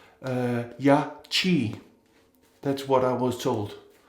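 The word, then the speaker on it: Yaqi: I've been calling them Yakri for many videos because the Q is pronounced Gra in Greenlandic, but it seems that it should be pronounced like this CH in the word chair or cheer. So it's supposed to be pronounced Yachi.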